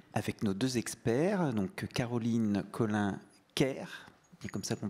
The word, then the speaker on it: Caroline Collin-Kerr: Voici le thème de notre petite table ronde avec nos deux experts, donc Caroline Collin-Kerr, c'est comme ça qu'on prononce?